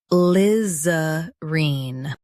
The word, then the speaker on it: alizarine: Stress Liz and keep arene soft. Liz. Reen. ALIZARINE.